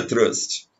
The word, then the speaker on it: trust: Se pronuncia trust, só que em português a gente fala truste.